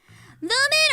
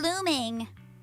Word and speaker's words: Lumin: Lumin or looming? Lumin. Good thing Colonel Isolde is very experienced. I'm Lumin and bloomin', wheeling and dealing.